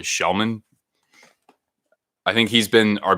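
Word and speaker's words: Kellman: The guy whose name is spelled Kelman, but it's actually Shellman.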